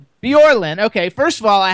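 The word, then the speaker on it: Bjorlin: Uh how do you pronounce her last name? Bjorin. Bjorin.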